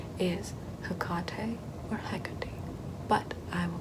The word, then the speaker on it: Hecate: to be told that it's a hard C and not a soft one like Hesate, which is also something people tend to call me as well.